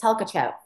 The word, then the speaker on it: Tolkachov: And my last name is Tolkachev, and it's spelled Tolkachov.